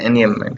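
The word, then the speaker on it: enjambment: तो इसको बोलते हैं एनयम्बमेंट। इसमें जे है ना, वो साइलेंट है, ध्यान रखना, इसको पढ़ते हैं एनयम्बमेंट, ठीक है।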